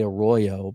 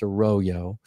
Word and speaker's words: Arroyo: I always want to say Arroyo, but it's pronounced Arroyo.